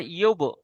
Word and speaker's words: يبدئ: أبدئ উব নয়, ইউব।